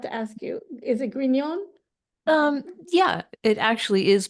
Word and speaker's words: Grignon: gon I forgot to ask you is it gon um yeah it actually is properly pronounced that way so that's fine okay I